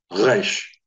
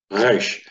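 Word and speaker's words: ריש: sound for R, but from the position that the G is normally sounded from in the back of the throat, the guttural, g, resh, resh.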